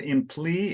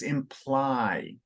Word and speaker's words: imply: of authorship in the thin tattoo very well pronounced pentateuch the uh there's a verb that's in you said in plea it's imply apply okay English is irregular because often when